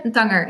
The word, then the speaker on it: Tanger: Is that pronounced well? Yeah, Tanger is good, but I'm okay with Tanger.